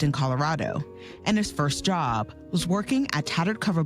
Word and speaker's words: Dia: last name Dia spelled Dia the correct French pronunciation is job because in Senegalese there was a French colony and we speak French but most people here say diab he goes by Papa Dia here Papa was